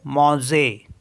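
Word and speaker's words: manger: ए एन जीई आर यह verb है तो इसके लास्ट में है ई आर इसको पढ़ेंगे मोजे मोजे मोजे मीस होता है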